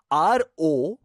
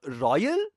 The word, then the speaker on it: Royole: ROYOLE. So it's not royal. It's Royole or Royole. Royole.